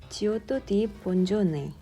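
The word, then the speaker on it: Giotto di Bondone: 지오토 디 본조네. 조토라고도 발음하는 이 이탈리아 화가는 우리에게 조금 생소하지만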